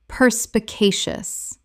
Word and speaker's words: perspicacious: Common mispronunciation, perspicacious. Correct pronunciation, perspicacious. Five syllables with the stress on the third.